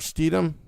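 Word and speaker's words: Stidham: Um I don't know how to pronounce this. Is it Jared Steedum, the Broncos backup quarterback? Stum.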